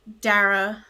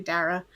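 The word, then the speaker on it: Dara: it's so beautiful and darra I've been I've been saying her name wrong the first two episodes I'm so sorry I've been saying dar it's actually darra darra wrote this song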